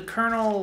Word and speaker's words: colonel: The kernel, like, not popcorn, but like the military rank. Oh, okay. Like, it looks like it's spelled colonel. Colonel? Yeah. It sounds like some sort of vegetable. There's no R in that word. I don't know why it's pronounced like that.